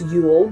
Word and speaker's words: Yule: So usually it's pronounced Yule. It's like Y-O-O-L.